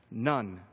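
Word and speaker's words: ن: is the Arabic letter for in and it's pronounced nun it is a symbol that stands for the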